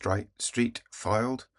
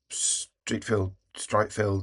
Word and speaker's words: Streatfeild: I think it's pronounced Streatfeild. It's field, but with the I and the E around the other way.